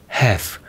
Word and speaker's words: have: 이 H는 발음을 하지 않는 연음 규칙이 있어요. 그래서 couldn't, have 여기에서 H가 사라져버리고 그냥 A, V, E만 앞에 붙어버리니까 원래는 couldn't, have 여기에서 H가 없으니까 couldn't have 이렇게 돼버리는 거예요.